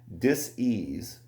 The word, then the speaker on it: dis-ease: Then it goes on to say, dis-ease, and notice how it's spelled, not disease like how you hear it, dis-ease, the lack of being at ease.